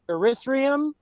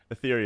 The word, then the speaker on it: Ethereum: dogecoin or ethereum or erythrium it sounds like urethra like literally i don't know what the hell it's called ethereum yeah you said it right he's like yeah you've